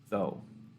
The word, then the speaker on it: though: when we look at the word though the same thing we pronounce it like this though or maybe like this